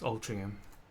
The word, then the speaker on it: Altrincham: got uh up here we've got altringham which is actually altrincham but it's pronounced as altering him and that what's the